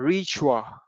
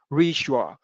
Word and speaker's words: ritual: Đấy, cái từ này chúng ta sẽ đọc là ritual. Đấy, như mọi người thấy ở đây có âm sh, ritual.